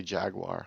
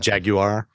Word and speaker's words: Jaguar: say it like the English say it Jaguar Jaguar I can't do it so yeah it's definitely not Jaguar that's for sure no it's not jagu